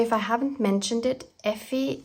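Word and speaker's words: Ephy: By the way, if I haven't mentioned it, Effie is spelled E-P-H-Y. It's like the abbreviation and nickname for ephemera. So Effie comes from ephemera.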